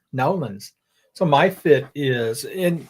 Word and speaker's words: New Orleans: Oh, my fit is my shirt from New Orleans. Oh, you said that all wrong. Okay, I'm just going to go back to eating my dinner then. How How do you say that? New Orleans. Nolins. Nolins.